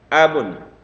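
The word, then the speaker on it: أَبٌ: Abun ya, jadi ada abun. Ini enggak ada tasdid atau apapun, lepas aja bacanya.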